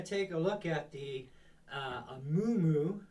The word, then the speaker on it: Amumu: So today we're going to take a look at the Amumu, or that's how I'm pronouncing it anyways.